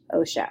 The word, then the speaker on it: OSHA: it is abbreviated oh Sh a but spelled OSHA or pronounced OSHA and it says in nineteen seventy